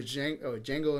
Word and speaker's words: Django: Either way, the Django Unchained. Yes. D is silent.